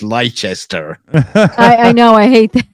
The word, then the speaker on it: Leicester: a Leicester in America why is it when they cut Americans come over here they can't pronounce Leicester it's leichester directions to leichester square